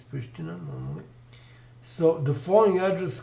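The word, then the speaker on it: Priština: Sh in Serbian, and Pristina should also have V V over it, diacritical V over it, because it's Pristina normally.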